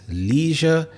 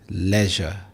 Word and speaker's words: leisure: So we have two syllables here, leisure. In American English, people may pronounce this as leisure, but in British English, it is leisure.